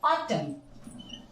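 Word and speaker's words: autumn: एम के बाद एन किसी भी वर्ड में यदि एम के ठीक बाद एन आता है तो हमारा एन साइलेंट रहता है नेक्स्ट रूल कहता है ए आफ्टर एम यानी अगर एम के ठीक बाद एन आता है तो ये एन साइलेंट होता है फ्रेंड्स कहीं भी एम के बाद एन एन साइलेंट होता है सिर्फ एन की प्रोनंसिएशन आती है एन की प्रोनंसिएशन हमें लेनी ही नहीं है जैसे देखो ऑटम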